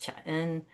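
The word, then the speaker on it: Chan: There it mingled with dowoism and confucianism and became a new school of Buddhism pronounced chaen. Later the Japanese pronounced it Zen.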